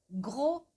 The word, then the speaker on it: grossesse: Grossesse, grossesse. Eu acho até que o gros, ele vai mais rápido, né? Mais fácil. Gros, gros, gros. Grossesse. A ponta da língua tá bem aqui, ó. Aqui embaixo. Grossesse.